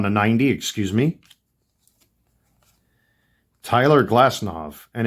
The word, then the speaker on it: Glasnow: Tyler Glasnow, and it's pronounced Glasnow, by the way, not Glasnow. The V in European, the W in European culture is pronounced with a V sound.